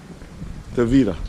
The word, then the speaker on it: Tavira: Tavira. Tavira. Tavira. Oh, right there. Look at that. That is how you say it. Tavira. Okay, now we got it.